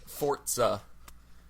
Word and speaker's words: Forza: He says it in like fortza. Forza, but I just say Forza.